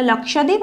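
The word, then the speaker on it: Lakshadweep: লাক্কাদ্বীপ island ঠিক আছে উচ্চারণটা আলাদা এটা লক্ষাদ্বীপ এটা লাক্কাদ্বীপ ঠিক আছে তার মধ্যে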